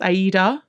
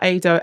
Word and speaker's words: Aida: So I think it's actually pronounced Aida, which is a opera. It's set on the banks of the Nile.